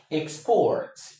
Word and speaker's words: export: export. My country exports crude oil. My country exports crude oil, crude oil, export, export, export, do me. You see, the stress falls on the second, export.